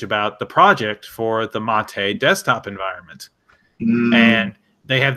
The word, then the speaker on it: MATE: on the page about the project for the Mott a desktop environment man they have this big holes